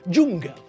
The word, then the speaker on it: dzsungel: And what's the first letter of the word? It's J, isn't it? And isn't that the exact same pronunciation of the first letter of the English word? Yes, it is, isn't it? Okay. So that means that if you can speak Hungarian, you can say that letter.